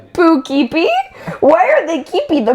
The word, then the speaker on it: Poughkeepsie: They said Poughkeepsie. Why are they keepy the poo? Why are they That keepy is they so poo? stupid. That's how you say it though. Poughkeepsie. Poughkeepsie.